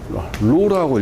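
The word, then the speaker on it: ρ: 이렇게 콩나물 머리처럼 써가지고 이것을 로라고 읽어요.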